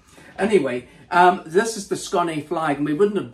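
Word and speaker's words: Skåne: accent on the a are you sure it's not scone scny well we know it's scunny because this guy just stopped to talk to us and he gave us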